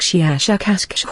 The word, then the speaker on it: Shiashakasksh: of your human letters, something like Shiashakasksh with a very, very strong pronunciation of the SH and K sounds.